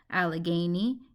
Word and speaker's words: Allegheny: I pronounce that word al gay nee allegheny and this word pull